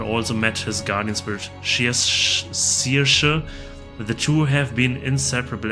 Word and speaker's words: Saoirse: Her name is pronounced Saoirse. It means freedom in Gaelic. Saoirse.